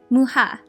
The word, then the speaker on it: Mucha: a collaboration event with the artist Alphonse a muha so I actually don't know how to say his name um I it out it just said Alphonse Mucha and I thought it's muchas so I'm really glad that I actually looked